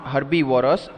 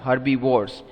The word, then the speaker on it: herbivores: non-veg things correct so they are called herbivores yes not herbivorous herbivores now repeat the answer after me herbie wars repeat a second time herbie wars great okay let's move